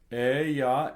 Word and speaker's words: Eia: Ea ergo. Ea ergo, That I in the middle of the EIA is pronounced as a Y.